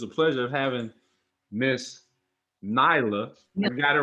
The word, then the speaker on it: Nelia: don't know how that i thought it was the leah because it's spelled n-e-l-i-a i'm thinking that's an elite okay but it's nila it's not like that that's not it neither that's not it neither what does it do okay it's not a short e i remember that from elementary school it's a long it's knee like e i'm saying like meal yeah okay man that's